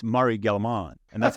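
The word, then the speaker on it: Gell-Mann: called the Gelman right it's because it's Murray galliman and that's how it's pronounced I said Gelman which is terrible no I I think I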